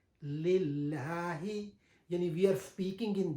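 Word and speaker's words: لله: Due to that reason, the lam in the harf jalala, it become lighter in pronunciation. Lillahi, yani we are speaking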